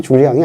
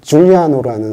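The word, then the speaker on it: Giuliano: 근데 줄리앙상인데 정확히 말하면 줄리앙이 아니고 줄리앙은 불어식 발음이고요. 진짜 주인공은 로마 시대 사람도 아니고 바로 이태리 사람이에요. 이태리 1400년대 말쯤 살던 줄리아노라는 사람이 모델이거든요.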